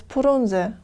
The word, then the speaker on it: Frunze: military leader franza but since the sound f is absent in the accuracy language and the confluence of consonants at the beginning of a word is unacceptable the locals pronounced this name as purunze after the collapse of